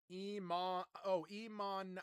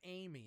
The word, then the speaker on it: Iman: Iman Anis. Iman. Oh, her name is Iman, so they call her Amy Anis. But no, it's Iman. It's Iman. And it's not Amy, it's Iman.